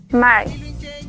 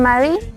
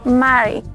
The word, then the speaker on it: mari: len también el Mari recuerden que no es una r como la que nosotros usamos sino que es Mari también en algunos lugares le dicen Marie pero es Mary con la r Eso